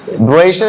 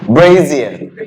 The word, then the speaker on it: brassiere: So what's the correct pronunciation? No. Brazier is the correct pronunciation. My mom pronounces correctly, if it is true. She is 65 years old. What's the correct pronunciation? I forgot it actually. Brazier.